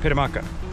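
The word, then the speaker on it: Pitamakan: And then Pitamaka is the other one from yesterday, P-I-T-A-M-A-K-A-N, Pitamaka. And he almost said like you don't even pronounce that final N.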